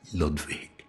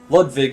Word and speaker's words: Ludwig: that yeah he pronounced ludwig in the same way that i assumed it would be pronounced as a german name uh the w is pronounced more like a v ah so really kind